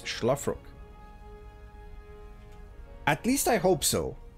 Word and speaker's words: Szlafrok: It's not with an S, but it's an Esh, basically. It is our red Terran, representing no team currently. It's Szlafrok.